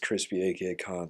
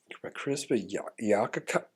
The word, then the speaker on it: Crispy aka Khan: Cause my name it's just Crispy aka Khan, like her in the intro. But it's so funny hearing people like trying to not trying to pronounce it. Crispy Yakaka. People say that for real.